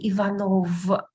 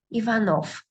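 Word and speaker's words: Иванов: I cannot say Ivanov. Okay, because it is the last letter. I pronounce it as dull f. Ivanov.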